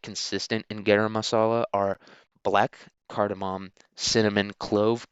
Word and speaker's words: garam masala: But it's pronounced garam masala, and it's a spice mix basically.